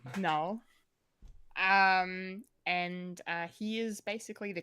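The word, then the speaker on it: Knull: That's spelled with a K. Null.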